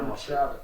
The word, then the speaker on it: McStravick: McStravick. Is that pronounced correctly?